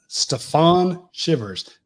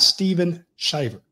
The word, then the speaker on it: Stephon Shivers: Stephon Shivers, not Steven Shivers. Not that I said that. I asked him specifically, how do you say it? He said Stephon, like Stephon Marbury, and it shivers like being cold.